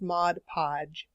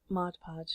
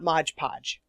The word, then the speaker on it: Mod Podge: to say this earlier it is pronounced Mod Podge Mod Podge not modge podge but people get it straight it's Mod Podge read the jar right